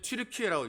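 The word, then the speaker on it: Türkiye: 성경의 배경이 되는 나라예요 요즘에 트리케라 예전 터키터키 그러던 나라가 지금 트리케라 이제 지금 좀 길게 발음을 하는데요 노아의 방주가 어디에 있느냐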